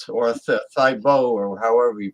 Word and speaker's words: Thibault: The maitre d' for Grey Goose is Francois Thibault or Thibault or however you pronounce it. Thibault, like that football player that used to pray in the middle of the field.